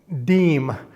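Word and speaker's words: disme: And he mentioned that the US half deem or it's not called dism although it's spelled that way. D I S m. It's a French word.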